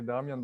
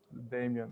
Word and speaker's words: Damjan: I say Damjan, but they always pronounce it Damien.